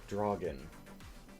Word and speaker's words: Draugen: So I would say that this next one is pronounced Draugen. No. Yes. Yes. Yes. Okay. Yes, you're quite right.